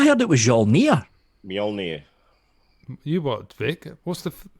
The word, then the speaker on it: Mjolnir: pronounced immured then Mjolnir see to me that just says end job yep job then in the Nordic language the Jay is pretty much silent and it sounds like a why some serious parts